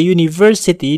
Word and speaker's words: university: pada kata University uh pada kata University dibunyikan seperti huruf y huruf y adalah huruf